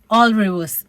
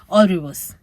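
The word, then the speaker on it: Alrewas: go back and ask how do you pronounce the name it's already woos all rivers a-l-r-e-w-a-s all rivers friar all rivers fryer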